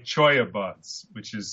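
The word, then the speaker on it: cholla: easy-to-use form so then you take something like Choya buds which is spelled CH o a CH o a ll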